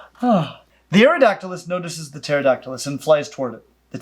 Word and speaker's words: Pterodactylus: Pterodactylus wins. Their names are challenging. Sound them out. Sound them out is a tough ask when the words start with a silent P and an AE respectively.